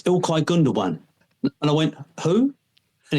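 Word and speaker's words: Gündoğan: And he went, "It's Ilkai Gundowan." And I went, "Who?" And he went, "Ilkai." I went, "Ilkai." He went, "Gundan." I went, "Not not Gund." He went, "No, Gundowan." He see him thinking is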